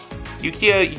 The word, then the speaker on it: Yukia: Yukia, your name rhymes with IKEA.